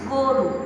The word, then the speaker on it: গরু: যেমন গতি, আমি গতি না বলে বলছি গতি ওকার দিয়ে, গরু না বলে আমি বলছি গরু ওকার দিয়ে।